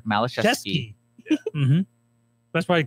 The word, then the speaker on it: Malachowski: Please pronounce it for us. That's Malachowski. See, I put the U in there. Malachowski.